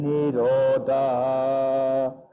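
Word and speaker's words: nirodhaḥ: You see the H at the end with a dot underneath? That dot underneath means that you have to echo the last syllable. The echo of the last syllable is called visarga.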